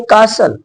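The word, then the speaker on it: castle: एस टी एल ई अगर कोई word S टी एल ई से एंड होता है तब वहां पर टी नहीं बोला जाएगा इसको कासल कासल मींस होता है महल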